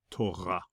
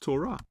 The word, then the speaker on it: Torah: Torah. You may hear some Ashkenazi Jews pronouncing this as Torah, but Torah is probably going to be the more popular translation, pronunciation of this word.